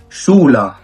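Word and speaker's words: Schule: كتير جدا في الكلمات مقطع الاس سي اتش وده بيتنطق ششبي شولا شولا يعني مدرسه اوضه شغيب شغيب يعني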